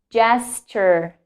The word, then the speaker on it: gesture: So in this case, the words also start with the letter G and is pronounced like J. J. Giraffe, giraffe, giraffe. Gigantic. Yes, gigantic, gigantic. Next one, gesture, gesture, gesture.